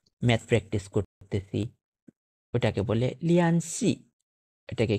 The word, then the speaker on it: 联系: আচ্ছা, তারপর 8 number লিয়ান সি।